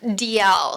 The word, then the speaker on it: Dalzell: how they say it DL so like the letter D the letter L interesting yeah but the American pronunciation DL interesting let's go back